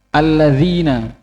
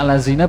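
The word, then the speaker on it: الذين: kaofnya dibaca Kaf mustaqim kemudian alladzina dibaca alladzina yang baca allazina biasanya itu orang-orang yang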